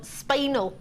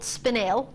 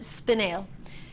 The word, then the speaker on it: spinel: sad because a lot of people call it spinel. It's actually called spinel. But however you wish to pronounce it, that's obviously, of course, up to you. But traditionally, we pronounce it spinel.